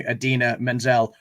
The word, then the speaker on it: Idina Menzel: said you know introducing idina menzel pronounced exactly as it is spelt which is a jibe